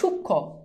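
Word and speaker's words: সূক্ষ্ম: শেষ এটা খুব সহজ যুক্ত ব্যঞ্জনে কখনো মফালার উচ্চারণ হয় না এইযে দেখ সূক্ষ এখানে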